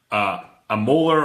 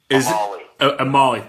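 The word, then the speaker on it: Omalu: this question, and help me out if I pronounce this wrong. For Dr. Bennett Amoller or Dr. Bennett Amir? Amali.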